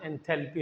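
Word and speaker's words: enthalpy: एंथैलोपी कहां से हो गया? एलओ कहां है? एंथैल्पी बस केमिस्ट्री में एंथैल्पी कहते हैं।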